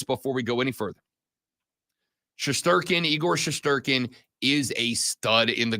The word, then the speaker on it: Igor Shesterkin: I was trying to get the pronunciation down, and the way you say it is Igor Shesterkin.